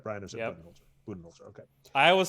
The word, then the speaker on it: Budenholzer: So it's a Budenholzer, I believe, is how it's pronounced, right, Brian? Or is it Budenholzer? Budenholzer.